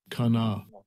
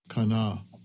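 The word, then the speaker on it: קָנָה: This is the pronunciation. Strong's H, 7069. Kana. Kana. Kana.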